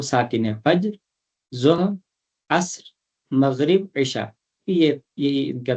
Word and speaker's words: مغرب: حرف ہے وہ ساکن ہے۔ فجر، ظہر، عصر، مغرب، عشاء، یہی ان کا تلفظ، صحیح تلفظ یہی ہے۔ ان کے علاوہ